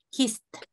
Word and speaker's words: kissed: El pasado está en este grupo, tengo que hacer un sonido T. Kissed.